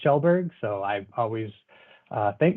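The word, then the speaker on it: Kjellberg: uh the easiest name it's pronounced shelburg so i always uh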